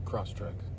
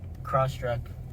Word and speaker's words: Crosstrek: Crosstrack. Crosstrek. And what is your name? Spell it.